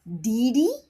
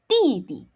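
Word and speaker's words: 弟弟: You do not say didi. It becomes T and again, you don't blow. So, you say it like this. didi didi All right.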